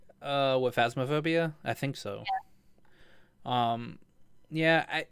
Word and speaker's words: Phasmophobia: popular and now it's this fantasma I keep saying it wrong fantasm phobia that's it I keep trying to say fantasmagoria which is Final Fantasy it's phasmophobia not fantasma itob it's phasmophobia now now I'm disappointed